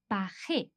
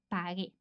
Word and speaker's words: pagué: However, because as we said, we need to keep the same pronunciation as the infinitive, we need to add the U to make that softer sound pagué.